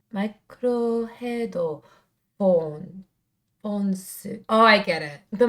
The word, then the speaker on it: MICRO HEAD 4N's: They started in 2011, and you're supposed to pronounce their name Microhead Phones.